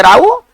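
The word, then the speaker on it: row: राव का मतलब इसको उच्चारण करेंगे राव, और इसका मतलब होता है विवाद या झगड़ा को हम लोग राव कहते हैं, ठीक है ना। चलिए ये विवाद या झगड़ा को हम लोग राव कहते हैं, और इसका जो उच्चारण होगा वो रो नहीं होगा, वो राव होगा, ठीक है ना।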